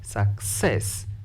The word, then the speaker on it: success: this one is longer the word success stress the second syllable because it is longer approach stress the second